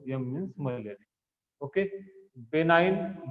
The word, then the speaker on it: benign: Okay, बेनाइन, जी silent इसमें, बेनाइन tertian malaria.